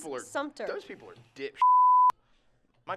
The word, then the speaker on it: Sumter: I've heard people say Sumpner instead of Sumter, and it drives Sumpner? Me crazy. Sumpner? There's yeah. That's literally removing the T. Sumter.